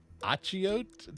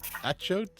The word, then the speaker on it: achiote: the seeds of the achiote tree. Achiote? Anybody know how to say that? Definitely not. Achiote? Achiote? I don't know. Rhymes with A coyote.